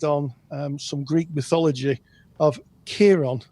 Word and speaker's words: Chiron: some Greek mythology of Chiron. I think it's actually pronounced Chiron, but it's spelt with a K. Go figure, the Greeks.